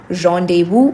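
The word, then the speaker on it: rendezvous: You don't pronounce s explicitly. It is simply rendevu or randde woo. Randde vu. All right.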